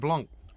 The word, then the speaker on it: Blanc: Yeah, with a C at the end. Yeah, the C's silent.